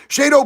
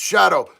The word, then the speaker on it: Shado: because of his charges uh my name is pronounced Shadow sorry Shadow I just didn't know why there wasn't a w I love you I'm